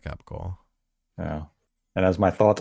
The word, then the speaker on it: capicola: Do you say it like that, or do you say it like gabagool? No, I say it like Capicola.